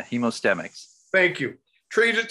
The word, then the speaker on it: Hemostemix: hemostamics good afternoon peter i always get that name wrong hemostamics yeah hemostemics thank you trade it